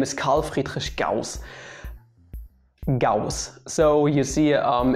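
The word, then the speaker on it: Carl Friedrich Gauss: just called leonhard euler surprisingly enough most people pronounce his name correct it might ring a bell his name is karl friedrich gauss gauss so you see um it's really easy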